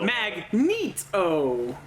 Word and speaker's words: Magneto: up in x-men 1 they actually have like phonetically how you're supposed to say magneto right after they introduce them yeah they would do that mag meet oh and I was like